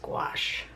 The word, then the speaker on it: gouache: first of all the pronunciation it's G gash guachi I think it's just gouache today's an exciting day